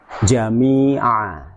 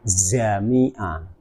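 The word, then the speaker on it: جامعة: Jim jangan diucapkan seperti huruf z. Misalnya jami'a, jami'a diucapkan zami'a, zami'a. Nah, itu sudah beda itu. Nanti beda makna itu.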